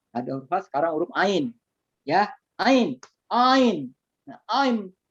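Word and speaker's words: عين: Ain. Mantap, muntas. Ya, mantap. Ain. Itu Ain. ya, jangan ain. Bergetar tuh ngorokannya ya.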